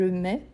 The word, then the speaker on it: mets: le TS il est obligatoire mais je le prononce pas donc je mets je mets pas met met c'est une ville